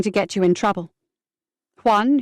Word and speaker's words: Juan: Juan, who notes Jeffrey often mispronounced his name as John, said Jeffrey told him, "John, they only want money."